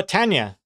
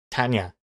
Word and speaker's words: Tanya: it's two tan yeah Tanya but X Comics thinks it's three Tania Tania never heard of that before I always thought Tanya two syllables uh five letters that's